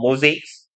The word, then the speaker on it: mosaic: 영어로는 mosaic라고 S를 Z처럼 발음하시면 돼요. mosaics.